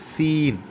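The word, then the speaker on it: س: சீன் சீன் என்று கூறும்போது அதேபோன்று ஜாக்கு எவ்வாறு உச்சரிச்சோமோ அதே போன்றுதான் ஆனால் சற்று கனம் இல்லாமல் அழுத்தாமல் சீன் ஏசியில் உள்ள அந்த சி உச்சரிப்பு வர வேண்டும். சற்று விசில் சவுண்டோடு வந்தால் நல்லது. சீன்.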